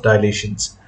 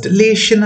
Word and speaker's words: dilation: the scale factors of dilations um you can pronounce it as delation as well or generally it's dilation now scale factor is